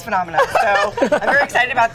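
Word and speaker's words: Funomena: We just recently rebranded from Funamina. And Phenomena. I just want to let you all know that we've decided to pronounce our own name correctly as Phenomena.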